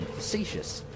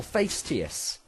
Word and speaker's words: facetious: Admittedly, that's pretty much it, and when I said a lot of career options, I was being facetious, or fastious, if you wanted to pronounce it as is written.